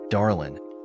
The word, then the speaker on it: Darlene: She pronounced it Darlin, with a "in," and I'd just like to welcome you to the building.